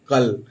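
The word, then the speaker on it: cull: में यूज होते हैं अब सी यू डबल एल इसको हम क्या प दोस्तों तो सी से हो गया क और यू डबल एल अगर डबल एल लास्ट में आया हुआ है यू के बाद तो यू को हम प्रोनाउंस नहीं करेंगे इसके अजंस मैं अपवाद भी अभी कुछ देर में आपको बताऊंगा जैसे सी यू डबल एल तो इसको क्या पढ़ देंगे कल इसी तरह डी यू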